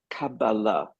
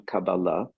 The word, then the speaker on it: Kabbalah: The word Kabbalah, which is the modern Hebrew pronunciation anglicized, and the more colloquial pronunciation of older times is Kabbalah. But I'll use the modern one, Kabbalah, just for the sake of being consistent here.